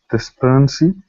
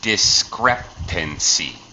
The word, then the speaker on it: discrepancy: myself um but uh pronunciation discrepancy discrepancy okay discrepancy interesting word here um